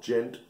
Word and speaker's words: djent: It's very the djent or whatever. Djent or whatever you pronounce it. I guess the D is silent, like Django.